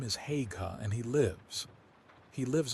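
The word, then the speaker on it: Haigha: His name is Hagga. He pronounced it so as to rhyme with mayor.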